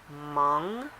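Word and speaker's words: Hmong: which is completely wrong the H is silent so - pronounced mom and this is just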